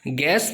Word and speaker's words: guess: सो ये जो बीच में U आया ये साइलेंट है, GUESS गैस मतलब अनुमान लगाना।